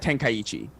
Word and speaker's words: Tenkaichi: they were talking to Saul yeah it's Budokai Tenkaichi okay okay that's how I used to say